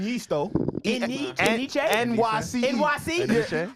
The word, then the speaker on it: Enyce: But I just found out last year it was pronounced Otherwise. NYC.